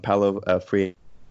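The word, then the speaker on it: Paulo Freire: fringy subfield of psychology that's based off of palo free this is how you pronounce its name the the liberation theology stuff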